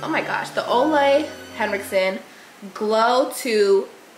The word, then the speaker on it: Olay: up the ol hson I always say the name wrong I don't know why I think it's glow H2O they might as well just change the name at this point the ol H oh my gosh the